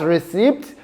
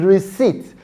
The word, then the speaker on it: receipt: No, it is not pronounced as receipt, but rather it is receipt because the p sound is silent.